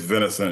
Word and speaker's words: Vincent: Is it I keep saying Vincent because that's how you say it here. Is it Vinicent? It's Vinicent, yeah, the Vincent. French pronunciation, yeah.